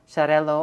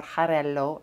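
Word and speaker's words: Xarel·lo: grapes in here macabeo charello or jarello i've heard different pronunciations the x in catalan is a ch sound this is so good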